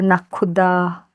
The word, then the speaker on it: Nakhuda: So you have Arabic pronunciation also, Nakhuda.